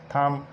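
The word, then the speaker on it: thumb: तरह डम, लैम, लिम, इसी तरह प्लम्बर और थम। और एग्जाम्पल जो टी से पहले बी साइलेंट होता है, जैसे आ जाता है डेट, डाउट।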